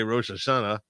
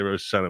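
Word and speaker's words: Rosh Hashanah: minute between Ros sh as we Americans say rosashana Israelis say it properly rosh sh we say we say rosh Shana which is you would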